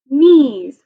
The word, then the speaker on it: knees: e green this is one of those silent k n words so it says ease knees like your knees down here can you touch